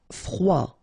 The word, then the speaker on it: froid: Froid. Final D not pronounced.